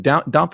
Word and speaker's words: Dompe: So he's going to be playing a thief named Drippy and a warrior named Dompe. So everybody wish him luck. Is it Dompe or Dampe? Or Dompe is how I pronounce it.